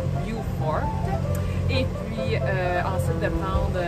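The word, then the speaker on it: Beaufort: n son allé à Beaufor Caroline Sud donc on prononce vifort et puis ensuite de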